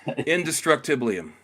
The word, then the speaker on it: indestructiblium: How do you pronounce that again? Indestructiblium.